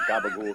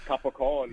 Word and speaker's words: capicola: head is gabagool, but gabagool comes from capicola. Capicola. Yeah. There's a reason why they say gabagool, obviously because of the Southern Italian dialects and pronunciation that turned into gabagool.